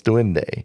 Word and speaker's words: duende: They have the legend of the Duende. Duende? Yes, Duende. Spell that.